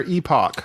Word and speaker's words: epoch: years prior to their epoch. So the epic. So they Epic is spelled E-P-I-C. This is E-P-O-C-H. epoch.